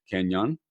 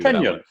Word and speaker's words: Kenyon: Kenyon. Did I pronounce that right? You did, Kenyon.